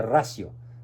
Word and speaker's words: Ratio: Escriben encíclica Fe y Razón, o encíclica Fides et Ratio, con T. Se pronuncia ratio, que significa encíclica Fe y Razón.